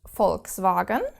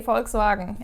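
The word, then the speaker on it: Volkswagen: Or you know the car brand Folkvagen. Folks, Varagen, you probably will have pronounced it wrong all your life, but you have to pronounce this V like an F.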